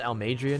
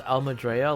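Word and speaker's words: Almeidrea: i guess i'll major her name is pronounced al madria now ice wasn't it wasn't it pronounced almadrea like not too long ago i think at the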